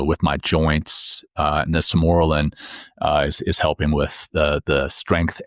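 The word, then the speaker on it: Sermorelin: I'm doing testosterone, and I got corrected on how to pronounce this other one. It's Simorelin, is this medicine that you inject, and it helps to naturally release human growth hormone.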